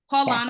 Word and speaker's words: Paulana: So we have Paulana, pronouncing it correctly, right? Paulana Yes.